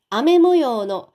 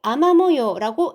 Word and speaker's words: 雨模様: 여기에서는 아마라고 읽지 않고 또 아메라고 읽었네요. 자, 요것도 아마모요라고 읽어도 됩니다. 그런데 요거는요, 조금 고어적, 문어적 표현이고요. 아까 이게 일본어 고어가 좀 굳어진 형태라고 말씀을 드렸는데, 요 아메모요는 비교적 현재에 생긴 말이기 때문에 이 아마모요보다는 아메모요를 훨씬 더 회화체에서 많이 쓴다고 합니다.